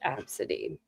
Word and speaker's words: Abcde: It is pronounced absity.